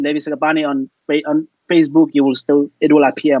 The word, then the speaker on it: Sekgapane: we pronounce the KG as so like a German way, like Sekgapane.